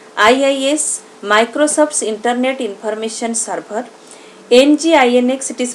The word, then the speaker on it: NGINX: Some examples of web servers are Apache, the most popular one, IIS, Microsoft's Internet Information Server, NGINX, it is pronounced as Nginx, GWS, Google Web Server, and NetSite.